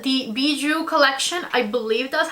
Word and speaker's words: Bijoux: And I think it sounds something like bijou or around the lines of that. Anyways, the outside packaging of